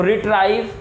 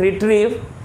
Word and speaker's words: retrieve: तो रिट्राइव, इसको हम लोग क्या पढ़ेंगे, रिट्रीव, RETRIEVE रिट्रीव।